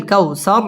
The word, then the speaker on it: الكوثر: ইন্না আ'তাইনাকাল কাউ, ওয়াও ঠোঁট গোল করে উচ্চারণ করতে হবে। কাউ জবরের বাম পাশে জাজম ওয়ালা ওয়াও, লিনের হরফ তাড়াতাড়ি পড়তে হবে। কাল কাউসার, র পুর হবে এবং ওয়াকফ করতে হবে।